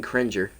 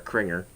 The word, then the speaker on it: Cringer: Ben Cringer. Or Kringer, I think is how they say it. It should be Cringer. Come on now.